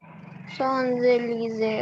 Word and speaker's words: Champs-Élysées: Sans, and L-Y-S-E-E will become lise. Sans lise. Champs-Élysées.